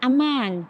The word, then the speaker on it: amang: hey and Fry um like amang for among the beautiful word nests